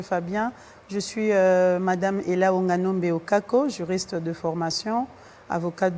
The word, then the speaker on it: Wonganombe: Oui, Ella Onganombe Okako.